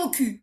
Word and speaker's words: AUKUS: Alors, on pourrait dire au cul, mais ça s'écrit AUKUS, A-U-K-U-S.